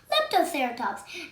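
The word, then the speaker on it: Leptoceratops: laptops i'm going to tell you how to pronounce it lap toe sarah talks leptoserotox and it was a small dinosaur and it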